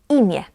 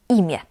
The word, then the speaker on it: imię: But when the letter N is at the end of the word, we pronounce it as E. Imię. Imię.